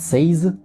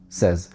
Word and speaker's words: says: Часто многие произносят sayз. Мы произносим его обычным звуком эз. Sezз.